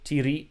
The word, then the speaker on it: tiri: represent in this word tiri the accent falls on the second syllable the t is short and the re is long so it's not just